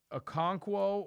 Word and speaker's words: Okonkwo: Okonkwo.